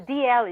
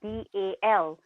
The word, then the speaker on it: Dalziel: The DL is spelled as DALZIEL. So you would think it's Dalziel, but actually it's pronounced DL. Huh.